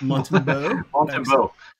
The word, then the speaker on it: Montembeault: Montembeault. Montembeault.